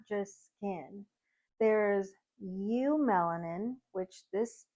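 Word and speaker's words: eumelanin: not just skin there's U melanin which this pronunciation is right in the text it's pronounced you melanin this is producing your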